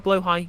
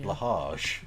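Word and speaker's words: Blåhaj: But the J is silent because it's Swedish, and the A has got the O over the top, which makes it pronounced like an O sound.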